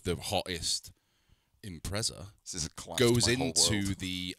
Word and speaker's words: Impreza: stuff Impreza well T so it's impressive is it yeah spell it Impreza there's no tea in it Impreza Impreza you don't